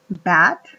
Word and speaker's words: bat: Bat se dice murciélago y se dan cuenta en la pronunciación les pongo con una la a lo que está en rojo es una a y lo que está en negro es una e porque el sonido de bat es entre a a y